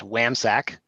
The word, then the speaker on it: WAMHSAC: Chairman, Senator Hutchins, it's WAMHSAC, pronounced WAMSAC, and that stands for the Wyoming Association of Mental Health and Substance Abuse Centers.